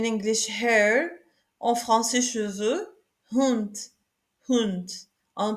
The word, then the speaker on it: Hund: Hund, hund, on prononce le H ici, hund.